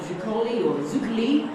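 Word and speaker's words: Zuccoli: Around 2,700 voters from Farah, Johnston, Yarrawonga, Zukali, as we've been schooled recently, as people prefer to be pronounced if you are of Italian heritage, and booted out of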